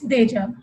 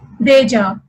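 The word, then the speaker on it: déjà: Another word with accent grave over A is deja. In this, first we have accent aigu over E, which is pronounced as A, and there will be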